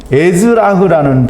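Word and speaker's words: אזרח: 원주민은 에즈라흐라는 발음으로 이제 읽게 되는데요.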